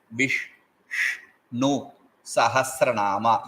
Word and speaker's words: Viṣṇusahasranāma: And I told very clearly it is Vishnu Sahasranama. You have to touch the upper portion of your mouth.